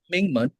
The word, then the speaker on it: Mingmen: Did I pronounce it right? Yeah, Mingmen.